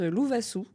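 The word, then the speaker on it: Lovasoa: Et ben moi c'est alors Loup Loup parce que mon prénom en malgache se prononce Lou Vasou et diminutif du coup loup.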